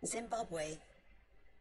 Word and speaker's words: Zimbabwe: it a bigger pattern I forgot how to pronounce this country's name just need to check the dictionary thank you he's in Zimbabwe Zen zimbab zind zimbab Zimbabwe Zimbabwe Zimbabwe Zimbabwe